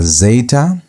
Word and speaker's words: zeta: The next set of three we have zeta. Zeta as in days as in the word dez. That zed sound that z sound is um equivalent to zeta.